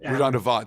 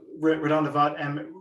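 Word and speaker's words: RaDonda Vaught: And Redonda Vought. Sorry, Redonda Vought. Redonda Vaught.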